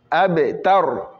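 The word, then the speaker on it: الأبتر: Abe, tar. Abe, tar. Tar. Pas tor, mais tar.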